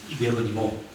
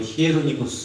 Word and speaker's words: 예로니모: 요즘에 원래 발음을 하자 그랬어요. 예로니모 또는 뭐 히에로니모 이렇게 부르기도 합니다.